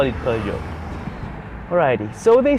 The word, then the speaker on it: Peugeot: Now, I think I finally got the pronunciation right. I think it's Peugeot 207. That sounds correct. Let's call it Peugeot.